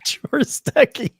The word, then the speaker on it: Chorostecki: Alana Bloom, and Lara Jean Chorostecki is Chorostecki.